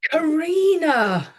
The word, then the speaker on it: Carinna: So on tonight's podcast, we've got Carinna Cooper, Well, I'm and we just going met to say although it is spelt Carinna, it's Carinna.